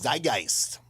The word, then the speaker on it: Zeitgeist: Zeitgeist.